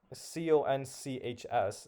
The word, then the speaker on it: conchs: There is one word that like C O N C HS is the only combination that might have CHS at the end. That's because that's pronounced conchs.